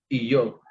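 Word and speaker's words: אִיּוֹב: El nombre de Job es Iyob.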